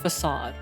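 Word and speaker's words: façade: Um, so I know it's pronounced facade, but I like to say ficade for fun.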